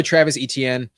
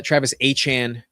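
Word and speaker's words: Travis Etienne: Honestly, I didn't I don't hate taking Javvante even this high, but we're going to go Travis ETN. uh Travis Achan uh more accurately.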